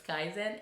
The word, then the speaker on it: Kaizen: their Japanese language maybe people pronouncing it wrong well it's Kaizen and that's for the